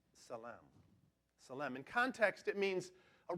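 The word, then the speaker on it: צלם: That phrase, "in His image," is a Hebrew word pronounced salam.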